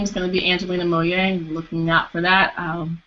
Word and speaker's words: Moliere: It's Angelina, and then the last name is Moliere, but it's pronounced Moye.